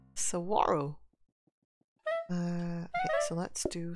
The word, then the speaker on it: Saguaro: my little one I'll be right back okay sawaro oh it's pronounced Saguaro Saguaro uh okay so let's do some bread just